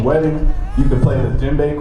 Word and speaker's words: djembe: But right here, this instrument is called the djembe. Can everybody say djembe? Djembe. Thank you. And the crazy part is spelled with a D. It's D-J-E-M-B-E. But the D is silent in it.